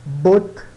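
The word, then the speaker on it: botte: Aqui muitas pessoas acham que o E final em francês ele não é pronunciado, ele é mudo. Ele é quase mudo, tá? E na verdade ele soa quase como um A.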